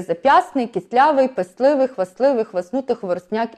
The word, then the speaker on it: хвастливий: є зап'ясний, кислявий, писливий, хвастливий, хвастнутий, хворосняк і 16. У цих всіх словах ми пишемо букву «т», хоча вона не вимовляється в усній мові, але звук «т» записується.